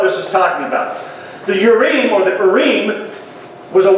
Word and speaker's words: Urim: And thou shalt put in the breastplate of the judgment the Urim, or the Urim is the way it's actually pronounced, and the Thummim.